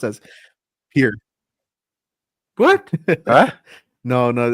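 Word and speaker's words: Pierre: It's pronounced as Pier. What? No. No. It's so so Yeah, it's it's so dumb. So, it's it's spelled P I E R R E and but it's pronounced pier.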